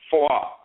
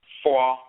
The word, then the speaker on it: Foa: Now, Obosom Maat had a servant named Foa. It's F-O spelled in the story, but depending on the dialect, it's pronounced Fo. In the Asante dialect, it's Foa with the diphthong.